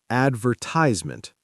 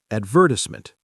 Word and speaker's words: advertisement: advertisement American, advertisement, stress on the first and third syllables. British, advertisement, stress on the second syllable, four syllables instead of five.